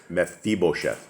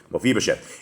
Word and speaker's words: Mephibosheth: Mephibosheth. Mephibosheth.